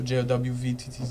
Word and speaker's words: Jowvttz: So Jowvttz.